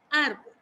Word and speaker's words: árbol: Y le voy a colocar la tilde sobre la vocal de la sílaba fuerte, que es A. Árbol.